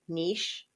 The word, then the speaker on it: niche: It says you can say it either way. Niche or nich like itch. This word has two different proper pronunciations.